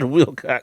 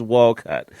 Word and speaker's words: Walcott: It's not Willott. It's Walcott.